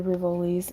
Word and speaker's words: Rivoli: No, you're saying it correctly, the Rivolis.